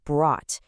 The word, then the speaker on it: brought: It's pronounced brought. It rhymes perfectly with caught or taught.